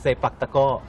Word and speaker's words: sepak takraw: It's actually read like that, but pronounced in Thai like sepak takraw.